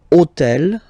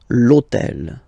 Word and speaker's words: hôtel: And third example, so I took on purpose this hôtel, okay, because it starts with H, but remember that in French we don't pronounce H, okay?